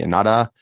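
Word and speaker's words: Ennahda: political party correctly pronounced it's the H in the middle yeah um so but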